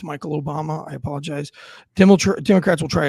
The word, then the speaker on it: Michelle Obama: his name wrong. I said it wrong. It's Michael Obama.